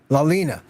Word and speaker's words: Leilina: How do you pronounce her name? Leilina? Lalina, Lalena. Lalina.